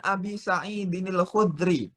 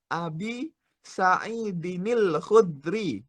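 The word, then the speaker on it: أبي سعيد الخدري: Wa an Abi Sa'idinil Khudri. Nah, itu cara bacanya seperti itu ya. Fokus. Wa an Abi Sa'idinil Khudri. Gitu cara bacanya ya. Itu namanya ada nun wiqoyah.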